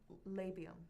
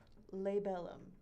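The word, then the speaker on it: labellum: a lip called a labium. Labium, I'm sorry. Lebellum. Oh. Oh, like the cerebellum like in your brain. Uh, similar pronunciation. Yes.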